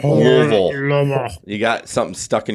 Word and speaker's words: Louisville: It's Louisville. It's not Louisville. It's Louisville.